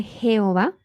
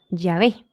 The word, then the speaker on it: Jehová: incluso ellos afirman que el nombre Jehová probablemente no haya sido la pronunciación correcta del nombre de Dios que una más exacta puede ser eh yahvé yé yah pero aún así insisten